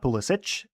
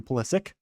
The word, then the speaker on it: Pulisic: Not Pulisic, as I think ancestrally his name was probably last name was probably pronounced like that, but the American pronunciation now has just gone to Pulisic.